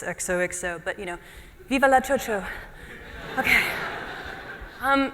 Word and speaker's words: XOXO: Thank you so much for having me at XOXO, which is how I've chosen to pronounce the name of this conference. It's using the Basque X.